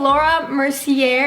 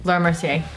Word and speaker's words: Laura Mercier: We're using Laura Mercier. Is that how you say it? Laura Mercier.